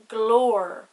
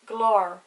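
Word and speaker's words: glór: for oh father we have the word for voice and irish pronounced glor another example lunch loan if those words didn't have the father on the o it would be like glor long the o would be much softer and not as emphasized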